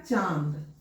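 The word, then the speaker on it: चाँद: रेखा के ऊपर में चंद्र बिंदु जैसे इन्होने लिखा चांद अब चांद का उच्चारण करके हम देखें तो क्या बोल रहे है च आ आ च पहले मुह से निकाले फिर उसके बाद नाक से निकाले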